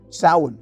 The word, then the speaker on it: Samhain: Samhain, for example, and yes, that's how it's pronounced, is observed on the evening of October 31st.